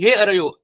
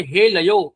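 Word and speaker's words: हे अरयः: बताया गया है कि हे अरयो स्लोगन उनका ये था कि हे अरयो अरे दुश्मनों इस तरह का स्लोगन था उसके जगह पर इन्होंने हे लयो ऐसे अशुद्ध उच्चारण किया अर बोलने के बजाय वो ल बोल रहे थे र की र की जगह ल किया और अशुद्ध उच्चारण की वजह से उनका पराभव हुआ अभी देखने वाली बात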